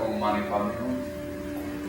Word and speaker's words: Om Mani Padme Hum: So do the Ni and feel the Ni at the top of the palate and the nose.